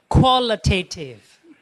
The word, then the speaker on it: qualitative: Qualitative.